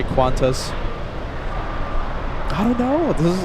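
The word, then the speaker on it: Qantas: We don't say Q A N T A S. We say Quantas.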